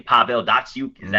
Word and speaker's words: Datsyuk: Pavel Datsyuk. Is that how you pronounce it? Yep, Pavel Datsyuk, Henrik Zetterberg.